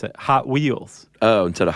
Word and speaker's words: Hot Wheels: how they pronounce It Hot Wheels oh instead of Hot Wheels yeah the emphasis is on the hot it sounds awkward they're